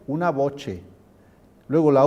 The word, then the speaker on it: voce: Y esto se pronunciaría una voce.